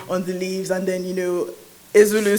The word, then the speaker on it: Ezeulu: Pronounce it for me. Ezulu.